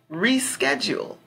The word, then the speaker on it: reschedule: in the word okay another word we can look at is reschedule ran schedule so you can hear ran casual the pronunciation and then you see in bold they have the sched reschedule reschedule so you can see the strong pronunciation um so if you